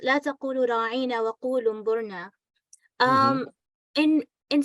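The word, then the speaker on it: راعنا: They would lay more stress on the word ain, and instead of pronouncing it as ra'ina, they would say ra'ina.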